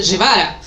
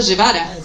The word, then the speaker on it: Guevara: y entonces dijeron, "Bueno, si los egipcios dicen Guevara, debe ser yvara seguramente y hasta el día de hoy, incluso en Egipto, se sigue diciendo llevara.